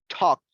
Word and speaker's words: talked: excellent again excellent so in this case it is a t sound talked talked we never talked about